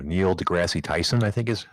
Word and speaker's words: deGrasse: I'm going to say his name wrong. Neil deGrasse Tyson, I think is how it's said.